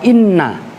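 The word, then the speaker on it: إنّ: Nah, itu saya tekankan pada kalian lagi, itu bacanya wa inna. Karena sebelumnya adalah kola. Pokoknya ada inna jatuh setelah kola atau sejenis. Maka hamzahnya dibaca, wajib dibaca kasroh gitu loh.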